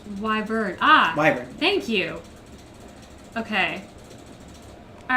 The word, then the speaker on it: Wyvern: It's pronounced Wyvern.